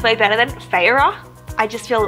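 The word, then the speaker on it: Feyre: is black and gold and says reset and Farrah I pronounced I don't owe the audiobook says her name is Farrah and people say Farrah but I'm like saya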